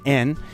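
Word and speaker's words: 円: In Japanese pronunciation, it's not yen, though, it's en.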